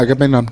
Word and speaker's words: Agamemnon: Agamemnon? Yeah, Agamemnon.